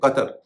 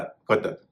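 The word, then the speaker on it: Qatar: अरबी नामों में जब क्यू आता है तो उसका उच्चारण क के साथ जो नुक्ता लगा होता है। जैसे कतर कतर में क्यू ए टी ए आर कतर। उसी तरह से कुरान कुरान में भी क्यू जो है शुरू में है उसका उच्चारण हो रहा है ग चीनी नाव में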